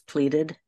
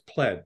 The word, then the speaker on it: pleaded: By the way, Susan's saying it correctly. It's pleaded. Yes. I did say it correctly. Yeah. You did. Why is that in a Wikipedia article and somebody changed it to no, it's pled. I go, no, it's not pled.